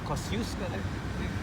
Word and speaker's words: Kościuszko: Of course, America it's Kosciuszko. You know the problem for English speakers pronouncing Polish names.